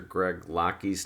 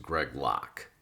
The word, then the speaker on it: Greg Locke: was more angry that i mispronounced pastor greg locky's name because it's actually pronounced greg locke so here's this guy